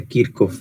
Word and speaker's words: Kirchhoff: el curso lo sientes ya que se pronuncia kirk of verdad pero y aquí coloquialmente siempre dicen kirch entonces mandemos lo así